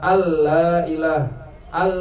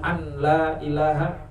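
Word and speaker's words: أَلَّا إِلٰهَ: atas lam alif lailaha al la ilah all tu bu dibacanya kalau dibacanya Ashadu an la ilaha enggak cukup tuh ada yang salah bacaan kita harusnya alla ilaha ada tasdidnya di situ kadang juga masuk Idam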